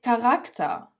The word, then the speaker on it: Charakter: As for the second rule, when tse-ha comes at the beginning of the word, of course, this rule has some exceptions, you say it as ka, k. For example, der Charakter, die Charaktere, der Charakter, die Charaktere.